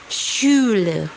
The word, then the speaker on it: Schule: Contoh katanya adalah Schule, ya. Jadi ada S, ada C, ada H, maka dibacanya SY. Oke, yang terakhir ada huruf CH.